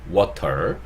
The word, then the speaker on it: water: water 하시면 되고, 이것도 원어민들은 T 발음을 없애고 water 이렇게 얘기를 하죠.